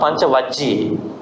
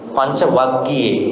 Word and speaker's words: Panchavaggi: Not Panchavajji, Panchavaggi.